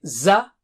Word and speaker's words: ز: Alright, so how do you say Za? Touch the tip of the tongue to the edge of lower teeth and blow with a strong sound.